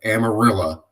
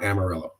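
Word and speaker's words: Amarillo: it a different way outside of amarilla not amarella okay done out of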